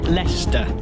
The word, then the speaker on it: Leicester: Leicester, it's pronounced.